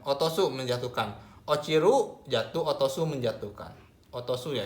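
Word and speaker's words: 落ちる: Bacanya o ciru, ini jatuh, atau o ro otosu, otosu menjatuhkan. Ochiru jatuh, otosu menjatuhkan.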